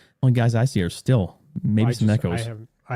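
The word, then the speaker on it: Stihl: But, you know, you you call it steel. That's funny. I' I've always called it still. I think your pronunciation is actually the correct one.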